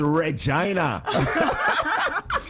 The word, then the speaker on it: Regina: I'm like you know it kind of rhymes with fun and that city's name is Regina and their team